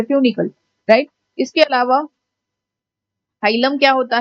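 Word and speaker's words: hilum: को हम बोलते हैं हाइलम. हीलम, हाइलम, जो भी आपको प्रोनाउंस करना है, इट is basically called हाइलम.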